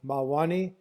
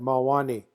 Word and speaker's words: Mawáni: Mwani. It's got second syllable stress.